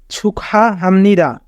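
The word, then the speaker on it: 축하합니다: বাচ্চামের rule অনুযায়ী গিয়ক বাচ্চিমের পরে Hugh থাকলে হিউতের স্থানে গিয়ক চলে যায় এবং গিয়কের উচ্চারণ খ এর মত হয় তাই উচ্চারণ হবে সুখা হেত মাঝে থাকলে হা আকার হা বিউ বাচ্চিমের পরে নিয়মন থাকলে বিউ পরের উচ্চারণ মিয়মের মত হয় হাম নিয়মন মাঝে থাকলে দন্তন্য ই রাস্ত মাঝে থাকলে দ আ দা উচ্চারণ হবে ছুখা হামনিদা ছুকা হাহাম নিদা ছুকা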